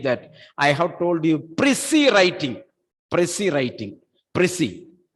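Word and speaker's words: précis: Don't say precise writing. It is not precise.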